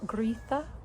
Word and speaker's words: Gritha: Their firstborn is Gritha. For some reason, there's an R sound in there, Gritha.